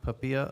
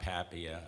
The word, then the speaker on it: Papia: pronunciation of your name well if you're speaking Italian you said it perfectly uh I'm papia I'm the president protm